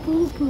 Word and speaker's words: Phuket: Hayır, o şöyle okunuyor. Phuket.